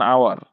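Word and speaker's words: hour: যখন আমরা আমরা এন আওয়ার করতে পারি কি অ্যান আওয়ার কারণ কি তখন এইচ এর উচ্চারণ আসছে না কিন্তু এখানে তো এইচ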